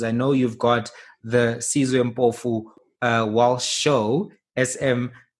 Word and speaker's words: Sizwe Mpofu Walsh: Because I know you've got the Sizwe Mpofu Walsh show, SMWX, right?